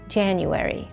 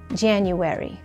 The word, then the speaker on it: January: الشهر الاول من السنة واللي هو كانون الثاني بالانجليزي هو January. January. هذه الكلمة مؤلفة من أربع مقاطع لفظية. جان يو وي ري.